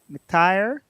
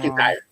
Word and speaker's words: McIntyre: That was her partner, and then Bruce Mc, McTire. I'm saying his name wrong. McIntyre, McIntyre. McIntyre, Bruce Yeah.